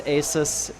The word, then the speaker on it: Aeis: map, our Protos player in the teal, it's AS. At least I hope it's AS. It is AS. Excellent. Not the the ASUS. Asus apparently is how it's pronounced when I I I found that out yesterday.